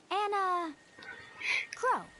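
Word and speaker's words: Enna Kros: You can call me Anna Crow. Anna Crow will work. Anna Crow. S is silent, apparently. Okay, well, we woke up to a ghost town this morning.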